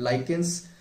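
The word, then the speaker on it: lichens: और उसके बाद जो लिचेंस है, जो आप पढ़ेंगे कि मृदा का फॉर्मेशन आपने पढ़ा होगा कि वेदरिंग ऑफ रॉक से होती है, तो लिचेंस जो है, लाइकेंस भी प्रोनाउंस करते हैं, तो वो आप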